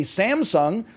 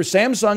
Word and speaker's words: Samsung: commercials in the u.s they say samsung well i'm sorry to tell you the people who make the commercials for samsung in america are racist okay cause it's samsung i'm pronouncing everything in